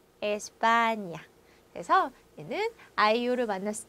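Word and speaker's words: España: 니뇨, 니뇨, 에스파냐, 에스파냐. 그래서 얘는 아이유를 만났을 때 냐냐 니뇨뇨 가 되는 발음이죠.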